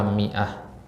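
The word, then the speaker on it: مائة: Hamzah kemudian Ta marbutah ini kan seharusnya Bacanya apa Ma ihusnya kan Ya ya kalau ada alifnya seharusnya dibaca Ma kan tapi dia di sini dibaca Mi ya ya Ini satu-satunya kata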